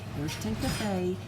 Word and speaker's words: Ariston: We're back again today at the Ariston, and he's going to pronounce it the proper way. Ariston Cafe in Litchfield, Illinois, and it is the oldest cafe in existence on the old Route 66.